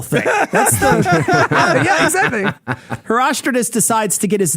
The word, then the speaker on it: Herostratus: Hero Stratus. No. Herostratus. I like decides Herostratus. That's a baller name. Herostratus is the guy who jumped out of the Red Bull thing. That's the Yeah, exactly. Herostratus decides to get his name in the pages